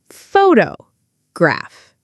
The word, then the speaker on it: photograph: The stress is on the first part, photograph.